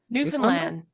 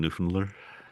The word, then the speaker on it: Newfoundland: Newfoundland. Newfoundland. Newfoundland. Newfoundlander. Newfoundland. Newfoundland. There you go. There's no D's. Don't say the D's. Amanda, can we hear some Newfoundland?